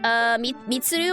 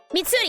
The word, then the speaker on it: Mitsuri: Mitsuru, I think is her name. Mitsuri? Something like that. I don't quite remember what the name is, but I think that's it. Mitsuri, yes, I did say it correctly.